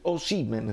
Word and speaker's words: Osimhen: televisioni del nord eccetera, Osimhen si dice, chiaro? L'ha detto lui, cioè la pronuncia del suo paese, Osimhen, no Osimhen, Osimhen, va bene?